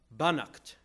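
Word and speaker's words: Beannacht: It's Banacht, evidently, is how you say that.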